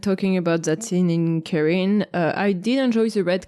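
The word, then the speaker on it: Cairhien: sea where Rand is how do you pronounce it Karen Karen um Morin is heading there like a Ken like Karen yeah exactly I say carhine because a southerner oh god um Moren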